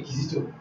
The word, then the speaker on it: Kizito: Okay, Kizito. Kizito, spell it.